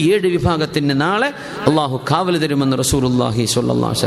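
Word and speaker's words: الله: അള്ളാ അള്ളാ എന്ന് പറഞ്ഞ ലാ എന്ന് എവിടെ നാവുകൊണ്ട് പറയുന്നുണ്ടോ അവിടുന്ന് അള്ളാ എന്നുള്ള സൗണ്ട് വരണം അള്ളാ അള്ളാ അള്ളാ അള്ളാ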